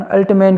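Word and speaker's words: Altmann: तो अपन अल्टमैन बोल सकते हैं, कुछ अल्टमान भी बोलते हैं, तो अलग अलग वैज्ञानिकों के, आप इसका कन्फ्यूज होने की जरूरत नहीं है।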